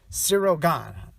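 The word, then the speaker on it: Ciryl Gane: gaine or joe gone sirogon right that's how you pronounce it sirogon uh yeah sirigan he's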